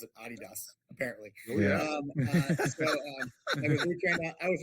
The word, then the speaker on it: Adidas: Just like I used to pronounce it Adidas, and now I have to pronounce it Adidas.